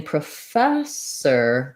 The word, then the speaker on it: professor: spelling first of all the prefix pro is doesn't say pro in this word it does in some other words like produce or program but it's not stressed so in professor the fast syllable is stressed which means my o is going to sound more like an uh pra you'll see in the ipa that there's a schwa and then you'll see